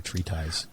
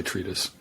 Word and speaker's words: treatise: like a treatise um do you say treat us or tree ties you personally i would say treat us treat us i love saying tree ties but people always say i'm saying it wrong yeah you are anyway i'm gonna go